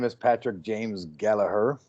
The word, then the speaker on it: Gallagher: My name is Patrick James Gallagher, or Gallagher as we say over here, but Gallagher I think is a proper way to say it.